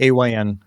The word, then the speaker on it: AYN: Is it Ion or AYN? How do you say it? AYN. You say AYN? I always said Ion.